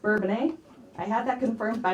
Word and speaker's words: Bourbonnais: I would pronounce that Bourbonnais, but say it like that, people won't understand. Yeah, so Bourbonnais.